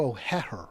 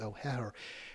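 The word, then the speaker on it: O'Hehir: There was an article by Andrew O'Heher is how I think he pronounces it. There's two H's in there. I think it's O'Heher.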